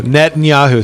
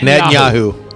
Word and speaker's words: Netanyahu: Then why is the only person who met the man is the only one who cannot pronounce his name? Yeah, right. That's true. Netanyahu. Say it with me, Matt. Netanyahu.